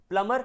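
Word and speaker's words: plumber: प्लम्बर नल बनाने वाला, प्लम्बर में बी साइलेंट है, ध्यान देना। मैंने आपको कुछ बताया था जब आपने प्रोनाउंसिएशन की क्लास ली थी, उसमें मैंने बताया था कि कहीं पर भी एम बी आ जाए वो साइलेंट हो जाता है।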